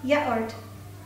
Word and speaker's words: yaourt: It's pronounced like yao, yogurt, but I know that French you don't pronounce T. Le yaourt.